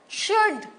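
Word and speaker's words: should: एल नहीं बोला हमने शुड अरे बहुत जन सुड बोलते हैं कुड बोलते हैं अरे एल तो साइलेंट है तो बोलना ही नहीं है एल है लेकिन एल बोलना नहीं है य शुड कुड उड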